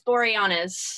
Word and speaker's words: Boreanaz: You have to pronounce that to me. It's Boreanaz.